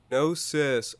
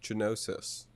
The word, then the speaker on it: Gnosis: down too much capital no sis oh i've been pronouncing it genosis but i'm glad we did this podcast before it comes out so we can get that get that straightened out how was i supposed